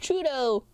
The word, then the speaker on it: Trudeau: my ham ham OS in jail it's pronounced Trudeau I wouldn't know that's not my prime minister